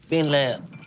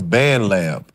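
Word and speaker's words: BandLab: out B lab so when you did that on the phone then then what happened it's band lab b band lab yeah saying it wrong too you he said B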